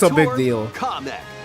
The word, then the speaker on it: Kamek: Kamek. Comic? Wait, it's pronounced comic?